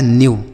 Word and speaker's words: new: आगे लिखा है NEW, तो N से पढ़ते हैं बच्चों न, लेकिन यहाँ पे N से आधा न होगा, और EW का उच्चारण होता है U, तो ये लिखा है न्यू। क्या होता है? यू। अगर ई के साथ W होता है तो इसका उच्चारण बच्चों यू होता है।